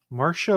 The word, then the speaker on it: Marcia: the air marshall lucas marcia lucas marshall m-a-r-c-i-a i guess that's i assumed it was an odd spelling of marsha and pronounced that way for those that aren't